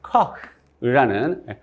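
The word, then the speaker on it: Koch: 코흐라는 흐 발음, 이렇게 독일에서 나오는 흐 발음.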